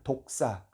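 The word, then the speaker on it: δόξα: 헬라어 단어가 독사 입니다 독사 발음이 좀 그 그 어떤 동물과 비슷하죠 독사 독을 가진 그 뱅 묵 비슷한 발음이 줘 독사 영광이에요 그러니까 구원에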